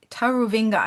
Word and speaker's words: Taruvinga: It's uh Prosper Tar Tarovinga. Have I pronounced that correctly?